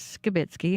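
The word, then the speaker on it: Skibicki: through the court proceedings Jeremy skitzki pronounces his name as skitzki and we will now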